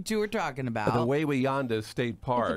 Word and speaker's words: Wawayanda: The Wawayanda State Park. Way yonder. Is it Way? Is that how you Way pronounce yonder.